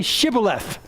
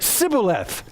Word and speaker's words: Shibboleth: It says, they said to him, "Then say Shibboleth." And he said, "Sibboleth," for he could not pronounce it right.